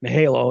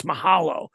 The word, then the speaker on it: Mahalo: it said Mahalo on it now I always pronounced it Maho until Michelle and I did our podcast together she's like no it's Mahalo you know kind of like uh ukulele is